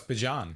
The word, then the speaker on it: Bijan: Also, one thing that changed from the last time we recorded to now, Bijan Robinson pronounces his name differently. What? It's Bijan. It's Is it Bijan really? Robinson. Bijan Robinson. Not I Bijan.